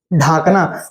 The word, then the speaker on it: ढकना: ढाकना, ढाकना नहीं, इसको ढकना उच्चारण करते हैं, ठीक है।